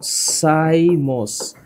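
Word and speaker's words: cymose: এখানে উচ্চারণটা একটু মনে রাখো। একটার নাম হচ্ছে রেসিমোস। একটার নাম রেসিমোস। আরেকটার নাম সাইমোস।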